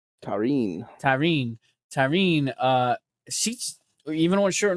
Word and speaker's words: Tarín: Tahin, or what was it? How do you say her name again? That sounds wrong. Tarín.